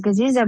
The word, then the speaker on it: Gaziza: can find me excellent so do you say gaziska I've been saying am I saying it wrong no my name is gaziza but my friends yeah